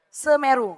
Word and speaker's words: Semeru: Gimana sih cara bacanya? Hah? Semeru.